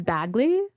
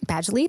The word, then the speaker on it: Badgley: yeah yeah um for Jacob I'm thinking pen Bagley Badgley Badgley thank you I don't know how to pronounce his name uh Joseph Gordon levit oh